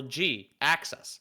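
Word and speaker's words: Jhiaxus: like, "All right, well, G axis, like axe to project." Oh, okay. Yeah. So, it's Gaxis basically, but it's spelled J H I Axus S, I think, normally.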